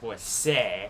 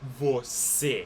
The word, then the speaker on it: você: So when you're pronouncing it você. You're not going to pronounce it você. You're not going to pronounce it like without the accent, like a regular E with C. You're going to pronounce it você with the accent that's at the end right there.